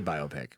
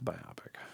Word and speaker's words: biopic: How they ever heard people say biopic? Uh, it's biopic. I know.